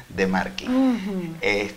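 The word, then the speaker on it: De Marchi: Instagram, @arimusic07 y @gianfrancodemarchi, se escribe así pero se pronuncia Demarchi.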